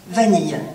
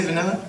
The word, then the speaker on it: vanille: Vanille.